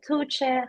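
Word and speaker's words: Tuğçe: pronounce my name and it is pronounced like tche however anything you start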